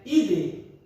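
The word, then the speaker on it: -idae: A família, a terminação dos nomes para família, se for animal, termina com o sufixo ide. Apesar que se escreve idae, mas no latim é ide, a pronúncia.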